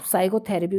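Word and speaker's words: psychotherapy: the word साइकोथेरेपी देखो अब साइकोथेरेपी में कौन सा वर्ड है जो साइलेंट होता है तो पी साइलेंट होता है पी नेक्स्ट है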